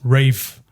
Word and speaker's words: Ralph: So is it I think it's pronounced Rafe. Fines. Ray. Yeah. It's not pronounced Ralph. It's Ray. Ray or R. Ra. Rafe. Fines. Rafe fines. Yes.